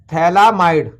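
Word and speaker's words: phthalamide: तो हमारे पास ये प्रोडक्ट बन गया, इसे कहेंगे हम थैलामाइड। पीएच साइलेंट होगा, थैलामाइड।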